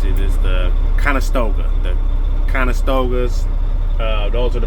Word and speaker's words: Conestoga: You know, you see them all over the road, flatbeds, low boys, step decks, how you pronounce it is the Conestoga.